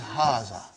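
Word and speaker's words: هذا: is pronounced like but this alif is not written it is explained in the key also so it is haazah okay means this and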